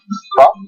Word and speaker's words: pho: Okay, so by the way, it's pronounced pho.